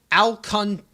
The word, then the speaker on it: Alcantara: Alcantara. That's what it's pronounced on. That's what it says on Baseball Reference. So if that's where we're going on, it's Sandy Alcantara.